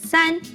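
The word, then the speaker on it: 三: hung here's one more it means three it's pronounced sun did you notice that here are three hung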